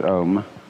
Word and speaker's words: om: have a gong actually the word om is spelled out in sanskrit and thus comprises the whole range of sound from the back of the throat to the lips it is therefore called